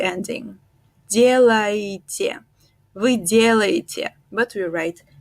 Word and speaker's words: делаете: But when we pronounce it actually in Russian, we say вы делаете, вы делаете. The first ye is stressed, the first one is stressed, вы делаете.